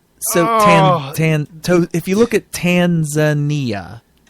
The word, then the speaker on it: Tanzania: So if you look at Tanzania, it's just you're reading it the way you're saying it phonetically the way it's spelled, but the emphasis is on the wrong syllable.